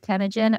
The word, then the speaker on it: Temujin: have missed the previous interview we did with tagen we'd love for you to go ahead and